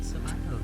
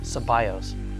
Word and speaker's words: Ceballos: You mispronounced it. That's how I've always said your name. Ceballos. Ceballos. I'll say it right. I've always said Ceballos. It's Ceballos.